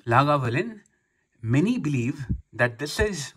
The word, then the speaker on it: Lagavulin: legal distillery here eight लागा वलन pronounced लागा वूलिन after the gallic लगान